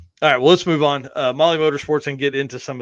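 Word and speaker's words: MAHLE: And for the podcast listeners, Molly is spelled M-A-H-L-E.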